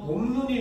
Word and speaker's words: 봄눈: 소리가 합쳐지면 가 합쳐져서 봄눈이 됐을 때는 둘째 이하의 음절에 위치를 해서 짧게 요렇게 봄눈 이렇게 짧게 발음을 한다는 거죠 그죠 자 그래서